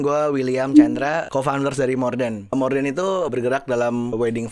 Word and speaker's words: Mordèn: Bacanya sebenarnya Morden cuman di banyak yang bilangnya Morden.